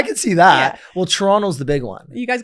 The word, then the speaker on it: Toronto: Well, Toronto's the big one. You guys got the If you don't pronounce the second T.